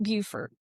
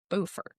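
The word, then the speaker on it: Beaufort: And what we're doing, we're on the way to uh, Boffort. Buffert. Not Buford. Buffert.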